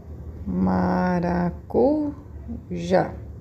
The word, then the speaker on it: maracujá: Então, eu sei que essa é a minha sílaba tônica.